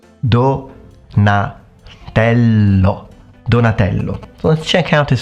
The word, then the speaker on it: Donatello: now the next turtle is going to be Donatello donello Donatello so let's check out his full name Donatello